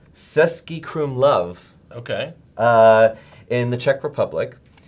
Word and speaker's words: Český Krumlov: So producer Evan, do you know how to pronounce that? Where he was? Because I can. It's Český Krumlov Okay.